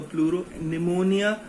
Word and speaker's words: pleuropneumonia: Pleuro, P for pleuro, pneumonia, also P is silent, so this is pleuropneumonia, and L is for like, O is for organisms.